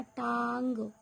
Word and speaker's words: टांग: सबसे पहला क्या मिल गया हमें, ये मिल गया टांग, टांग। ओके, इसका उच्चारण जो बिंदी का है इसका उच्चारण मुंह और नाक दोनों से होता है।